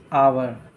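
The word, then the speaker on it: hour: पर क्या हो जाएगा एन आवर क्योंकि यहां पर है नहीं एच है वल नहीं है फिर भी इसका उच्चारण जो है वल साउंड से हो रहा है तो एन आवर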